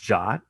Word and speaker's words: JWT: so JP is briefly it's a Json web token it's actually pronounced jot which was news to